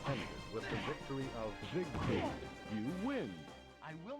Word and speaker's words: Siegfried: Same with Siegfried. Sometimes they say Siegfried. This guy's saying Siegfried. That's closer to the German pronunciation.